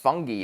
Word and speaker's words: fungi: Um, should be pronounced fungi actually in British English.